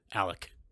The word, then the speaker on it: Alex: alex murdoch the father alec as they pronounce still still grinds my gears to do that but